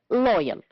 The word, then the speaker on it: loyal: Which words are stressed on the first syllable? Yes, labor, moral, practice, and loyal. And the other words are stressed on the second syllable, that is, the words protect and agree.